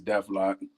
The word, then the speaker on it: Deflock: Everybody says it different, but it's Deflock, Deflock, Deflock.